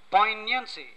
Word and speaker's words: poignancy: Poignancy, P-O-I-G-N-A-N-C-Y, the G is silent here.